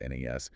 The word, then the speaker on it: NAS: pronounced SAN, or NAS, network attached storage, pronounced NAS, personal computing devices like laptops, desktops, tablets, smartphones.